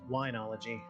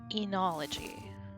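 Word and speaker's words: oenology: I thought maybe somebody was being funny, but O-E-N-O, and it's pronounced E. The first O is silent.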